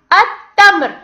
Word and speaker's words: التمر: التمر. اللام الشمسية كتبت ولم تلفظ، والحرف الذي يأتي بعدها يأتي فوقه علامة الشدة.